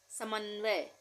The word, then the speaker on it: समन्वय: समन्वय, यहाँ पे आधे न का उच्चारण हो रहा है, समन वय, समन वय, तो इस तरह से लिखेंगे।